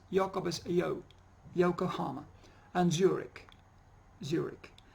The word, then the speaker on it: Zurich: Co Yokohama and Zurich Zurich like many places or many names proper names that finish with ch they are pronounced with a cut us in architect yes Zurich buck Johann Sebastian